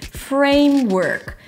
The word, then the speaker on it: framework: Start with a nice strong R around your lips. A as in day, framework. Here you have no O, so it's not work. Work, round your lips for a W and then pull the tongue in immediately for an R. Work. It's a set phrase, like high school. So frame is gonna be a little higher in pitch.